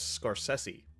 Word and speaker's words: Scorsese: still Marty's last name it's is is it scorsi or scors sessi and apparently he says it's scors sessi okay well someone can be wrong about their